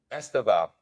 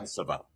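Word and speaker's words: Estêvão: Estaval. Yeah, Estaval. That's how you say it.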